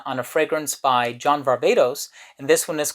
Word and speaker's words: Varvatos: stay tuned so John Varvatos or John Varvatos as I would like to pronounce because I am Greek and I am from